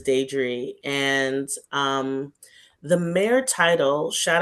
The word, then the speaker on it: Diedree: Most people pronounce my name wrong, but it's Diedree.